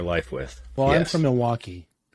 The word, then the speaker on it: Milwaukee: Well, I'm from Milwaukee. Without the L, that's how we say it, Milwaukee.